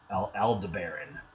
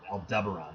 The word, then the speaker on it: Aldebaran: is Aldebaran and looks I always pronounced it L LD barren but that was wrong Aldebaran it sounds like a